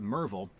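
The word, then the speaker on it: Maryville: I've been told that it's pronounced Merville, but it's not spelled Merville, so I'm just not going to say that.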